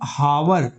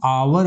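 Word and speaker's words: hour: जैसे आप देखो एच ओ एम ई इसको आप हिंदी में होम बोलते हो ना। गौर करो। यहां पर एच का उच्चारण हो रहा है।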